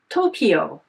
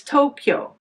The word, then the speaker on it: Tokyo: In contrast, English speakers might say Tokyo, which has three syllables, but that is incorrect. It's Tokyo, which has two syllables.